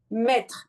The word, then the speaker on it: maître: Maître, un maître.